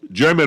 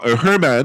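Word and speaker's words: Germán: don't mess this up Domingo German or Herman Herman is spelled German but in Spanish Herman has thrown the fourth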